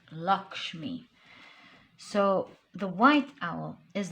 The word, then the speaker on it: Lakshmi: Yes, it's pronounced Lakshmi.